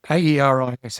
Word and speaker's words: Aeris: AERIS. How do you pronounce that, Cam?